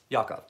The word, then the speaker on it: Jakov: Dwayne Yakov, Jakov. Yes, that's his name. Not Jakov. He's from Croatia. That's how you pronounce it.